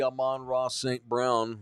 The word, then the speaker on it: Amon-Ra St. Brown: Hopefully Amon-Ra St. Brown won't play.